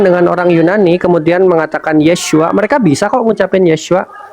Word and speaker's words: Yeshua: Jadi kesalahannya bukan di pengucapan. Kalau kita berteman dengan orang Yunani kemudian mengatakan Yeshua, mereka bisa kok ngucapin Yeshua.